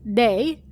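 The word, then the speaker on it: 霊: But ghost and 0 both being pronounced as day was an extra bonus.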